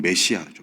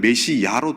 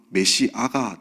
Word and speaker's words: 메시아: 우리가 잘 알고 있는 메시아죠, 메시아. 그래서 성경에는 메시야로 되어 있는데 한글 표기가 사실은 발음상 메시아가 더 맞습니다. 메시야보다.